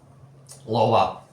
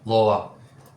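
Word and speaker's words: Lowa: I chose uh how do you even pronounce them in English? Lova. Yeah. Lova. Use Lova. I use Lava boots.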